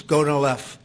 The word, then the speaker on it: Gonal-F: So it's Gonal-F. Is that a proper pronunciation?